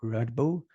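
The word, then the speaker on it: Radboud: a PhD student at rbull University where she researches the shifting perceptions of IESA in Latin America so welcome Paloma and how did I do with pronouncing that University radball it's rad Bal yeah but you you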